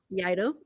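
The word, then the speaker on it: Iaido: Yeah, Okay, so let me see the words that I was mispronouncing. okay. What is So it? Yaido is one of them. What was it? Yaido.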